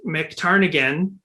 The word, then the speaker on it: MacTarnaghan: we're joined by mctarnigan mixtarnagon or as we know him uh because i was asking you how to pronounce your last name and it's pronounced exactly as it's spelled and yet for some